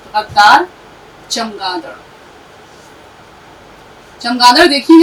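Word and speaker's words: غدار: हम बहुत बोलते हैं, गद्दार कोई लफ्ज नहीं होता, लफ्ज होता है गद्दार। इसका उच्चारण कौन सही करेगा? गद्दार मैम। गद्दार, बिल्कुल ठीक। गद्दार। हाँ, तो गैन दाल जबर गद, इस पे तशदीद भी है, दाल अलिफ जबर दार रे साकिन, गद्दार।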